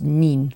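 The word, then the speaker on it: 您: I haven't seen that many videos with the formal pronunciation of you, which is nin, with the rising apparently.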